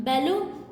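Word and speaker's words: Baloo: बैलो या बालू, अगर हम इंग्लिश प्रोनाउंसिएशन देखें तो उसकी बैलो है, लेकिन अगर वैसे देखें तो बालू कहते हैं इसको, ठीक है।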